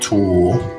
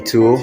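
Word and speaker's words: tule: Delta Estuary got it and this is a tool t-u-l-e Native Americans gathered bundles a re-light brush and that is this boat it's called a tool t-u-l-e tool okay and this is a cape Coke pod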